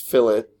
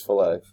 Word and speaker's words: fillet: type the command that's pronounced fill it it's not a fish fillet okay and I would